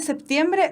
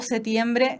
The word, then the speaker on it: septiembre: ¿Se dice septiembre o setiembre, septiembre? El uso del setiembre es un uso muy antiguo. Lo mismo que el séptimo. La gente que no pronuncia la P, ¿cierto?